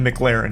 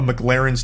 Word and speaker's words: McLaren: spends filling up a McLaren's tank. Okay, so this part pisses me off because he says the name wrong like 8 times in a row. It's not McLaren, it's McLaren.